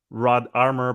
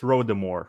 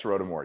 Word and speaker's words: Rodarmor: pronounced as wait I I'm inclined to say Rod armor but it's rhodamore right that's right yeah it's rotimore yeah it's it's actually a